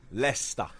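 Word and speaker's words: Leicester: We know how to pronounce Lchester. Lester.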